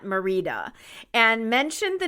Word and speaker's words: Merida: as I expected you talked about the name of Merida not Merida and mentioned the name